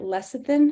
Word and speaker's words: lecithin: If you are prone to clogged ducts and mastitis, sunflower or soy, never know how to say it, lecithin, I think is how you say it, can be taken by mouth daily.